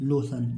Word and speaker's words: lotion: देखिए LOTION लोशन, इसको क्या पढ़ेंगे? लोशन। देखिए L से L हो गया, O की मात्रा, TION की क्या पढ़ेंगे? सन। तो क्या हो गया? लोशन।